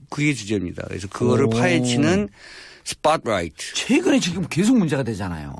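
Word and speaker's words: Spotlight: 라이트입니다음 어 보도네 뭐 저 저 발음 그대로 하면 스포라이트 예 저도 요즘 여기 와서 영화 발음을 좀 제대로 배고 있라 스팟라이트 왜 우리가 스팟라이트 하기는 우파가 되는 거고 스팟라이트 예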